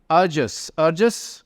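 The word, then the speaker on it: arduous: अर्जस, अर्जस यानी अगेन जिसमें बहुत ज़्यादा एफर्ट और मेहनत लगे। डी की जगह जे का साउंड आता है, ठीक है, प्रोनाउंसिएशन में।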